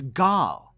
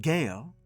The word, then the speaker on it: Gaal: And again, it's g not gale as it's pronounced in the show.